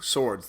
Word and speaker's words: Swords: I said you know it's like two swords the plural of sword and they were like